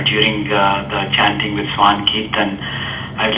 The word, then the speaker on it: Kirtan: Yeah, in India, in my native language, we call it as Kirtana. In America, it is Kirtan. I pronounce it differently.